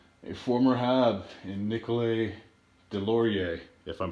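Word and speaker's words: Deslauriers: pronouncing the name correctly i do know that certain depending where you're at you sometimes pronounce the s other times you don't but if when it comes to french i do believe it's silence so i think it's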